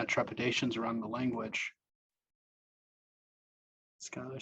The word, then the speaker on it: Skylar: Am I pronouncing your name correctly, by the way? I'm saying Skylar, is that? Yeah, it's Skylar.